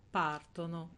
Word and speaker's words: partono: e loro parlano vedono partono cioè nel loro l'accento sarà sempre sulla terzultima questo perché Perché la